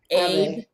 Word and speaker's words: Abe: Abe.